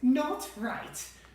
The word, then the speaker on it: Gnotwright: My name is Not Right. How do you spell that?